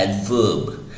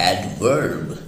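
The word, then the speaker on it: adverb: सामने स्क्रीन पर एडवर्ब, तो ब्रिटिश उसको कहते हैं एडवर्ब, एडवर्ब जिसमें आर साइलेंट होता है, लेकिन अमेरिकन्स इसको कहते हैं एडवर्ब, एडवर्ब।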